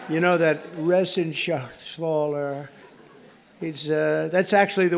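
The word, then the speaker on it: Reschenthaler: John David Joyce David thank you and Guy Ren Shaler you know that resen Shaler he's uh that's actually the way you pronounce it you know nobody else gets it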